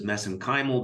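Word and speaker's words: mesenchymal: And of course, you study MSC stem cells, which I pronounce as messenymal because that's how they pronounce it in Ireland.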